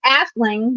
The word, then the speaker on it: Aisling: That's the Irish language, and so the original spelling is actually Aisling, which is pronounced Ashling, but nobody could pronounce it.